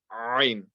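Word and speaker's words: ع: But if you have difficulty reading this letter, practice Ha first. Get that Ha really strong. And once the Ha is really strong, then inshallah practice the letter Ain.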